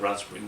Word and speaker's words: raspberry: our asp berry but we don't pronounce pink in raspberry when we say the word rat spring we don't say P because there's three P's